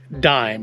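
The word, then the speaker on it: Daim: now all right so the pronunciation apparently is actually dime at least that's the way the swedish and english speakers pronounce it so that's how we're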